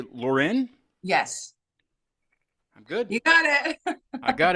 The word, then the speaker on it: Loren: last name but I'm gonna I'm gonna say Lauren yes I'm good you got it I got